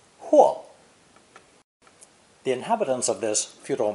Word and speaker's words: 或: It's pronounced fourth tone, huo, huo.